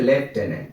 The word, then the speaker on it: lieutenant: সঠিক উচ্চারণ কিন্তু হচ্ছে লেফটেন্যান্ট, মনে রাখবে।